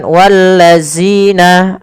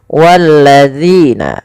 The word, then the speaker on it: والذين: Pada lafal bacaan walladzina, kita lihat di sini pada lafal zina, hati-hati di dalam melafalkan huruf zal. Jangan sampai kita membacanya menggantinya dengan huruf zai. Misalkan wallazina, ini salah.